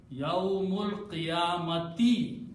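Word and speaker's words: يوم القيامة: As soon as we don't pronounce the sound of alif, we take this hamza, change by little swad there, and pronounce as yawmul. Mim combines with the lam. Yawmul qiyamati.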